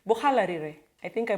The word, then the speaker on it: Buhalarire: ancestral home in Buhalarire, or should I pronounce it like Aluya? Marachis, I'm not Marachi though, but Marachis say Buhalarire. Yeah, my nyanya is Marachi, or my grandma is Marachi, so she says, Bohalarire.